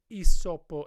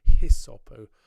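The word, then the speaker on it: hyssopo: going to sing aspergesme esopo et mundabo um in ecclesiastical latin um i think at westminster cathedral when i was there we were told not to pronounce h's in latin so not hisopo again the smile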